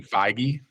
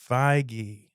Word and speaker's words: Feige: Kevin Feige. Feige.